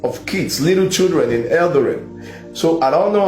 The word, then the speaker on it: Eldoret: Osans, please check if I'm pronouncing it very well. But yes, the people knows I'm talking about Eldoret. Eldoret. E-L-D-O-R. The pronunciation, is it right? Eldoret. Yes, sir.